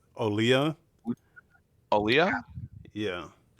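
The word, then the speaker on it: Olija: debating on how I pronounce this it's actually pronounced olya oh yeah yeah not Yuja not huija it's olya yeah then why have a jade day that's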